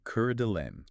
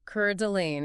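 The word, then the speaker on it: Coeur d'Alene: Specifically, Kurdelain. Kurd Delane. Exactly. Make sure we get that pronunciation right. Cord Delane.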